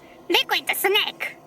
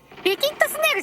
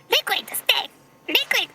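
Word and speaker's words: Liquid Snake: リクイッドスネーク。リキッドスネークじゃないんだな。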